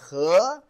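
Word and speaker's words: 河: This is a regular river, pronounced as He.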